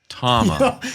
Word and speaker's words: Tama: It's pronounced Tama.